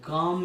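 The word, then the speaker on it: calm: काम यानी होता है शांत, एल साइलेंट रखना, काम एंड क्वाइट।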